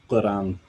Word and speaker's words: Quran: I don't know if I'm saying it right, but like the word Quran is like, you say it like Quran. Yeah. You know, it's like all the way back in your throat.